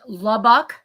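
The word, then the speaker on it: Lubbock: But um pronounced Labbak is labuk.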